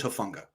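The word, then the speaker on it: Hufanga: How are you pronouncing it before? Hufunga. I've heard both, actually. Apparently, it's Hufunga.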